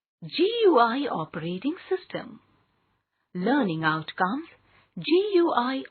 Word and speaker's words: GUI: GUI stands for Graphical User Interface and is pronounced GUI.